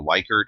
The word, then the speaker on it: Likert: what's often called a Likert or Lippert scale liquor is actually how the name is pronounced with a lot of